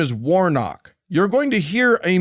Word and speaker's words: Warnock: By the way, the man's name is Warnock. You're going to hear a mispronunciation and a purposeful mispronunciation of that name.